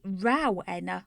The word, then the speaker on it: Rowena: It ought to be Rowena with a special accent on the row.